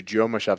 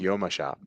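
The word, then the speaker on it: Jomashop: And Symphony says, here I've been referring to Yoma Shop the whole time. No, the correct pronunciation is Yoma Shop.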